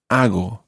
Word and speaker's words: hago: Now, to say I do, you say hago. Hago. Hago is spelled H-A-G-O. Hago. Hago. And your Spanish G sound is quite a soft G there. Hago. Hago. Muy bien. It's not hago, but hago.